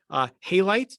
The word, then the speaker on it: halite: Halite is how you say that next word.